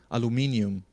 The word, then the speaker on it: aluminium: And of course, in the UK, people pronounce things differently than North America. Like here, they say aluminium in the States, or It's in Canada, aluminum.